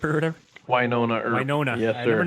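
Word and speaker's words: Wynonna Earp: Winona Earp or whatever? Winona Earp. Winona. Yes, I sir. never know how to pronounce that because I never hear people say it out loud.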